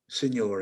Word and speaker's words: signor: uh you're you're um pronouncing the word signor in the spanish fashion in fact it should be italian get the out of